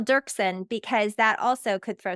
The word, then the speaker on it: Doerksen: n and I don't ask me why there's an o in there I don't know but pretend it's not there and you'll you'll pronounce